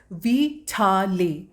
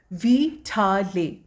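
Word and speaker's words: vitale: The word is वीटाले। वीटाले। जो हम वाइटल बोलते हैं इंग्लिश में, उसी का इटालियन में प्रोनाउंसिएशन हो जाता है वीटाले।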